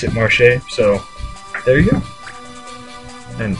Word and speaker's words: Marche: you guys want to pronounce it I I pronounce it Marche so there you go and who whoa whoa